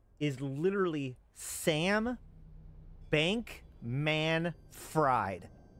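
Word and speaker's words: Bankman-Fried: name is literally Sam Bank man fried I don't know why everybody says Sam bankman freed cuz like that's not how it's spelled it's spelled Sam bank man fried I mean what is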